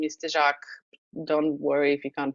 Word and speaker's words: Tezak: whoever doesn't know me my last name is De jaac don't worry if you can't pronounce it it's perfectly fine um I'm currently